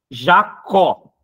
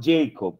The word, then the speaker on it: Jacob: Olimpíadas é Jacó pales a pronúncia é Jacó tem gente ainda não Jacob não ele é brasileiro e eu cheguei a